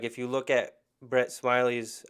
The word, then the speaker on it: Smiley: look at brett smiley's i don't know if it's smiley or smelly or something like that oh my god i hope it's smiling but it is spelled smiley so we're gonna go we're gonna roll with smiley um i met him he said his name is brett smiley it's smiley yeah all right you met